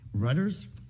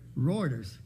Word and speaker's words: Reuters: I've never heard anybody pronounce it. I've just read it. Reuters, R-E-U-T-E-R-S, Reuters News.